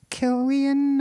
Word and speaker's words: Cillian: really really amazing uh Kian I think his name is pronounced yes Kian Murphy is just I